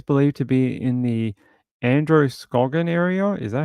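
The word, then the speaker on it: Androscoggin: the family is believed to be in the Andrew scogan area is that how you pronounce that uh and Andro scogan County okay and they said anyone who knows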